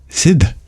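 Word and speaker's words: Sidh: a party in New York Sid not Sid Sid s d h that's how he pronounced it Pepe jerked upos Mo forget a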